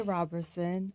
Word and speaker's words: Roberson: I say Robertson. Uh, my family is split on the pronunciation of my last name.